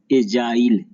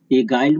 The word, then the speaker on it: agile: फिर है एजाइल, AGILE। एगाइल मत पढ़ देगा, इसको जी है तो एजाइल।